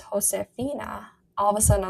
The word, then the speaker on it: Josefina: I called her Josefina until I was like 13. And I'm ashamed of that because I know full well that the J in Spanish, jota, is pronounced with like a h sound.